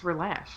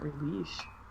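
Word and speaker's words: Relashio: It's relash, not releash.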